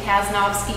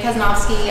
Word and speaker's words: Casnovsky: name is uh my last name is just as it's spelled talking about talking about school kaznovsky if you want to